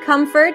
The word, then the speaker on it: comfort: it in the meantime Comfort would be a cup sound come and then a schwap Comfort Comfort comfort in the